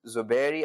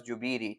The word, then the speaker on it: Zuberi: They can't say Z, they say J. So I wasn't Zubairi, I was Jubiri.